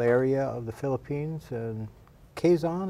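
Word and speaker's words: Quezon: Sam served in the Philippines from 1986 to 1988 in a very unusual area of the Philippines and Quaison. Am I pronouncing that right? Quison province. That's right.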